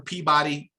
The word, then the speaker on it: Peabody: You spell it one way, but it sounds completely different. It's hilarious. But listen, I respect, right? Peabody. It's spelled Peabody, but it's Peabody.